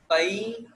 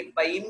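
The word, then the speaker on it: पैं: ई के ऊपर हल्का सा अनुस्वार हमारा उच्चारण होना चाहिए, पै।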